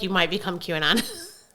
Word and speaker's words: QAnon: QAnon.